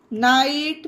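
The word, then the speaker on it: knight: के बाद जिस वर्ड में जस्ट बाद एन दिखे वहां पर के साइलेंट रहेगा, जैसे कि knife, knee, not, no, knowledge, knock, निट, न्यू, नाइट, naive, nail, नैपर।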